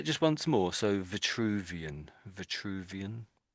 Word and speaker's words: Vitruvian: So what I said was this is Vituvian. Vuvian. A vituvian. Vituvian. Yeah, that's pretty good. Yes. So there's two V's and it makes it slightly tricky, I guess.